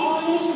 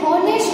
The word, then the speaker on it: honest: अब हम यहाँ पे देखें तो HONEST यानी हॉनेस्ट नहीं होता है। H भले ही है, H को हम बोलेंगे नहीं क्योंकि H साइलेंट रहेगा, इसको हम बोलेंगे ऑनेस्ट।